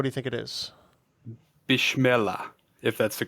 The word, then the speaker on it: Bismillah: I think the pronunciation is Bismillah, but given Bismillah. how much I've mispronounced on the show so far today, I'm not authoritative by any means.